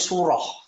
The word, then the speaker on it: surah: Jadi ketika Al-Quran itu dibilang bukan surat sebenarnya, tapi surah dalam bahasa Arab, bukan surat tapi surah. Tapi Indonesia kemudian menyerapnya menjadi surat. Tapi dalam bahasa Arab diucapkannya dengan surah.